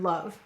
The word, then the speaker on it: love: All right, why do we have a silent final E in the word love? That's right, English words do not end in V or U. And why did we use an O to write the sound? You are right, because it's next to a V.